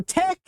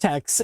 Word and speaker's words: TeX: So tech is uh it's not pronounced text.